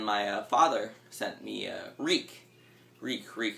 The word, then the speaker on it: Reek: Reek, it rhymes with freak.